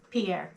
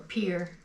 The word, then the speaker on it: Pierre: And then at that, not Rapid City, Pierre, sorry, or Pierre. I keep wanting to pronounce it the French way.